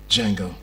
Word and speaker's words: Django: Jango. Can you spell it? D J A N G O The D is silent.